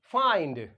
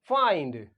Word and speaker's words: find: FIND फाइंड, FIND फाइंड। तो देख रहे ना, अगर हम इस एन के बाद क्या ऐड कर दें? डी ऐड कर दें, तब भी जो होता है आई का जो साउंड होता है वो क्या निकलेगा? लॉन्ग आई निकलेगा।